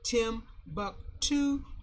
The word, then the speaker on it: Timbuktu: We know Timbuktu is spelled Timbuktu, but Timbuktu, like two, to the Sudan.